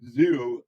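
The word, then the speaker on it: Xero: Other options are zero. I know that people use zero as well. That's spelled X E R O.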